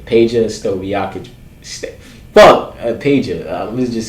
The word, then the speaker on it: Peja Stojakovic: Peja Stojakovic.